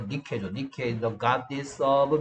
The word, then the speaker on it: 니케: 그래서 나이키라고, 우리는 나이키라고 읽는데, 그게 아니고 니케죠.